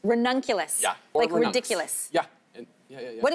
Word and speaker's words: ranunculus: how to pronounce it I always say rules but there is a correct way to say it uh ranunculus ranunculus yeah ridiculous yeah yeah